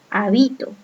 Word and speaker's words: habito: Siendo que bi suena más fuerte, que tiene el acento. Habito.